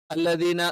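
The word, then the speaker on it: الذين: ഉണ്ടാവുക അല്ലദീന അല്ലദീന എന്ന് പറയുമ്പോൾ സാ എന്നുള്ള ഉച്ചാരണം ശ്രദ്ധിക്കണം അത് സാ എന്നൊക്കെ ഉച്ചരിക്കുന്ന ആളുകൾ അല്ലദീന നാവിൻറെ അറ്റം മേലെ മുൻപല്ലിന്റെ അടിഭാഗത്ത് ടച്ച് ചെയ്യുന്നുണ്ടോ അല്ലെങ്കിൽ അവിടെ തൊടുന്നുണ്ടോ എന്ന് നോക്കിയാൽ മതി അല്ലീനഹും അല്ല ഹും എന്ന്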